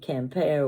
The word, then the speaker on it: Quimper: have never bought one sing single piece of compare Weare it's spelled like quimper Qi m p r but it's pronounced campare Weare from France it's handmade and every piece